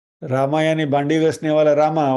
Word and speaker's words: राम: तो प्रोनाउंसिएशन क्या होना चाहिए? हरे राम राम राम हरे हरे होना चाहिए।